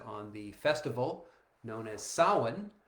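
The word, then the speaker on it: Samhain: the festival known as Sin, spelled S A M H A I N. It looks like Sam Hayne, but it's pronounced sawin.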